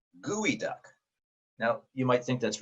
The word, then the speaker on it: geoduck: have read this as geoduck and you would be incorrect the way you pronounce that creature's name is gooey duck gooey duck now you might think